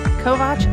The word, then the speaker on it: Kovacs: I am your host Karen Callahan and today I have with me Kovatch. Did I pronounce that right? You did. Okay. Kovatch as in watch from the UFAS extension, Crant and everything else in between.